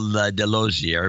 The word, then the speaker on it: Delosier: This is Delosier, rhymes with enclosure, enclosure, from Maryville, pronounced Merville.